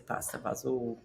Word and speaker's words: pasta fagioli: Are you saying, Jeanette, you're saying pasta fagioli? Is that how you're saying? We say pasta fazool.